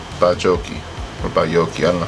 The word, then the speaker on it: baiocchi: I had a feeling the J was going to be a Y, pronounced like a Y. Bajocchi. Okay, so Maybe 6 Baiocchi.